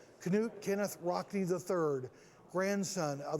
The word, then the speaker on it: Knute: Now, Knute is the proper pronunciation of your name and your grandfather's name, right? Yes, it is. It's the Norwegian.